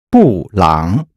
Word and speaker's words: 布朗: 布朗先生布朗 is the Chinese approximation of the name Brown. The syllables here are fourth tone and third tone.